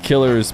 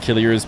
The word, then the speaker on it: Killeris: Killeris is pronounced killers by Arabic speaking players or sorry commentators. It'll just be pronounced killers ears by English speakers reading it for the first time just off of how it's spelled.